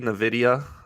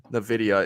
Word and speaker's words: Nvidia: is going to be Nvidia Nvidia as John would say Nvidia that's how you say it right have I been saying it wrong the whole time no you're saying it right um and what's the